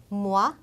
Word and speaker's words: moi: 그 다음은 오하고 이하고 만나서 우아라는 발음이 됩니다. 우리가 뭐 발음을 쓰면 와에 해당하는 건데 우아 발음이에요. 그래서 moi, avoir, étoile 이렇게 우아 발음이 납니다.